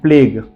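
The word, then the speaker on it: plague: you silent जाता है उसके एग्जांपल से टंग लीग कलीग एंड प्लेग अब ध्यान से देख सकते हो लास्ट वर्ड यई है यू का प्रोनंसिएशन नहीं किया गया है मैं सारे वर्ड्स एक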